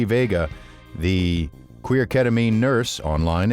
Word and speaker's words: Veiga: excited to have as a guest today T Vega and am I pronouncing your last name correctly T yes you